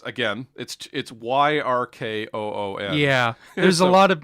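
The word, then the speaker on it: Yyrkoon: to see both usurped by his other cousin Yrcoon. Yrcoon, okay. Yeah, it's Yrkoon.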